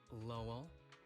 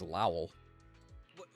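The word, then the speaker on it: Lowell: Seth Lel. Oh, that's how you pronounce it. I thought it was Lowel.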